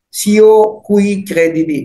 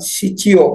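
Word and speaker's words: Scio cui credidi: nah dia sesantinya ini sioiredidi bacanya bukan siio bukan siredidi arti Arya aku tahu kepada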